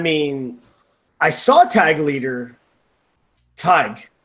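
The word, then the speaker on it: Tadhg: You pronounce Tag is as Tig, like Tiger.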